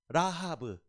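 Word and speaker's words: רחב: 여러분, 라압의 이름이 있어요.이 라합의 이름 히브리어는요. 발음이 라브입니다. 라브.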